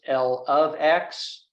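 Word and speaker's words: l(x): in parenthesis lowercase x in scientific terms it would be pronounced L of X or L at age X this column is called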